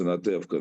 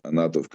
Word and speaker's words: Anatevka: It's a famous Anatevka. That's Fiddler on the Roof. That's the Anatovka.